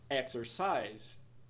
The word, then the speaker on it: exercise: estressadas enger enger enger exercise primeira e a última sílabas também estressadas exercise exercise vai uma